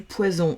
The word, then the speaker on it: poison: Et au milieu, c'est du poison. Donc, ça veut dire que là, ce S, je vais le prononcer Z. Poison.